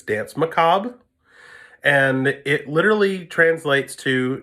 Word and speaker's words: Danse Macabre: to be Danse Macabre it is not pronounced Danse Macabre a it's Danse Macabre and it literally translates